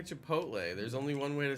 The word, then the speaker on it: Chipotle: pronounce it like Grotto people say chai pot Lee no they don't stop chaputi no they don't chaputi chaputi stop that's worse than Chipotle Chipotle no everyone's kidding